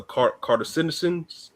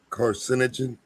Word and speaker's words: carcinogen: I think it's a cartisin. Am I pronouncing it right? Carcinogen.